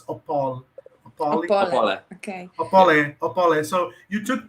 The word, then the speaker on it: Opole: went to it's not, I'm not going to pronounce well because I forgot how you taught me. It's Opole.